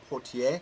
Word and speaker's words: Poitier: So first up, we have In the Heat of the Night, starring Rod Steiger and Sidney Poitier, I believe, is how the proper pronunciation is of his name.